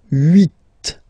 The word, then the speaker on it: huit: Then here, final T is pronounced, so huit, huit. Remember in French this H letter here, okay, doesn't exist phonetically, so we don't really pronounce it, okay? So if you listen carefully, you will only listen or hear these vowels at the beginning of the word. Huit, huit, okay?